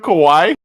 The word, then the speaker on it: kawaii: Hello, TJump, my little kawaii son. So, here's my argument. My argument is, I'm bringing the cosmological argument. Did you call TJump kawaii?